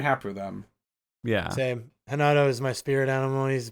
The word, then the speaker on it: Renato: I believe that's how you pronounce their names. Renato, isn't it? I was told it was pronounced Hinato.